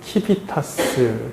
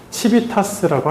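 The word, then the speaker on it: civitas: 최초 얘기되어진 때니까 그때가 어 시라이제이션 이거 이것이 이제이 영어인데 이것이 도시 시민을 뜻하는 라틴어 치비타스 또는 키비타스 요즘 발음으로론 그렇게 되는 거 같아요. 키위타스 치비타스 치비타스라고 할게요.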